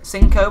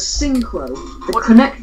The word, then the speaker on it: Synchro: But I have the mental capacity to be able to pronounce the word in chat as synchro.